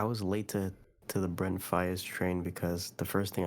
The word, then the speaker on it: Faiyaz: How do you pronounce It's Faiyaz? literally Faiyaz?